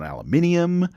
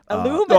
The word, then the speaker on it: aluminium: It's literally how it's spelled. Oh, I mean, don't get me started on aluminium. Aluminum.